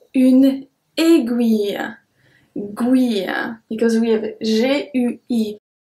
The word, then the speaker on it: aiguille: Numéro 2, une aiguille. Guille, because we have G-U-I. Une aiguille, guille, une aiguille.